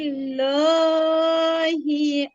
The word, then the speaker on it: الله: أفواجا في في دين الله أفواجا আপু উচ্চারণে أفواج পুর হয়ে গেছে, জান্নাতুল্লাহ পুর উচ্চারণে পুর হয়ে গেছে, এখানে বারিক হবে। দেখেন আল্লাহ শব্দের ডানে হচ্ছে জের আছে, বারিক হবে।